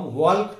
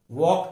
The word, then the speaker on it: walk: हम वॉल्क टॉल्क नहीं बोलते, वॉक टॉक बोलते।